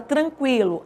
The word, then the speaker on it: tranquilo: usamos mais por exemplo a palavra tranquilo antes tinha um trema Hoje não tem mais certo fazia a diferença de tranquilo que o u é pronunciado para fazer a diferença por exemplo de quilo que o u não é pronunciado certo faz diferença eu